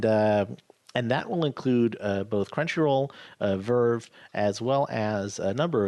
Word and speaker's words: VRV: to Crunchyroll plus VRV, or Verve, I guess they pronounce it, which is $10 a month, or maybe it's 12.